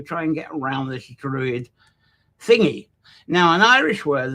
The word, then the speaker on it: Drui: us are familiar with an older one, which isn't pronounced much different, Drui, which is D-R-U-I. And that seems to be much more going into the ancient times, but it's not pronounced that much different, really, is it?